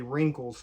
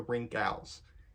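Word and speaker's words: Rinkhals: wrinkles wrinkles the wrinkles because I mispronounce it a lot I used to say wrinkles for the longest time until I learned how to actually say it but yeah here's Mike the rink owls and the other one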